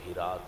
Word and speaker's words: ہرات: شہر ہے ہرات، ہرات، ہرات بھی اس میں بولتے ہیں لیکن صحیح تلفظ ہرات ہے۔ اتھے ایک بادشاہ گزرے